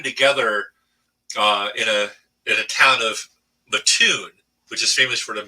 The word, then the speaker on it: Mattoon: If you ever heard that story, um, and we kept on calling it Mattoon. They were saying, no, it's Mattoon. You do not pronounce it Mattoon.